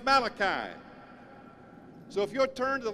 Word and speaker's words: Malachi: of the Old Testament the original Hebrew pronounces this as malaki you know it as Malachi so if your turn